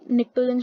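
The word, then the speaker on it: pnictogens: और ये जो नाइट्रोजन वाला ग्रुप होता है इन्हें हम निक्टोजेंस बोलते हैं, पी साइलेंट होता है, PNITGONES।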